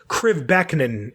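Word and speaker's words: Krivbeknih: Crivbeckenin is how I'm being told it is pronounced.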